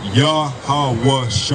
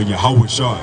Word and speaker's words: Yahawashi: in the Hebrew now the way you pronounce this name is yahawashi all yahawashi now the name Jesus